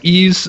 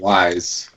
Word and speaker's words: Ys: been playing ease origin I think that's how they pronounce it that's I've heard people say it ease I call it wise do you I think I think it's like Spanish I think the YS you know but uh so I